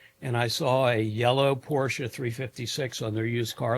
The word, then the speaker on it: Porsche: Porsche is a 2-syllable word, and you always keep your revs up."